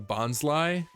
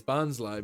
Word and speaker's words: Bonsly: it was just like, yeah, I pronounce it Bonsly because this is my logic behind it. Aside from the fact that that's how they say it in the anime, to me it just makes sense. Because to me, it's a bonsai tree.